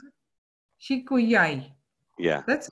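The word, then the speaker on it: שִׁקּוּיָי: How do you pronounce it? Shikuyai.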